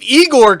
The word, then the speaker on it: Igor: that seriously like if Igor could do it in Young Frankenstein now it's pronounced I Gor why can't Han do